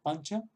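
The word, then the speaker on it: पञ्च: ñ muy fuerte, pero si en sánscrito decimos pancha, pancha, pues que es una palabra sánscrita, pues esta N la N que pronunciamos antes de la che, es este sonido nasal que tenemos aquí.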